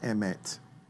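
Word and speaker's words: אמת: to make my point the Hebrew word for truth in Hebrews pronounced Emmet and it's spelled with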